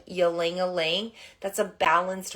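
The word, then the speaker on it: ylang-ylang: use right now is yelling or a lingling depending on how you pronounce it ylangling is the oil of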